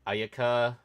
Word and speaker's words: Ayaka: Ayaka is like Aayaka.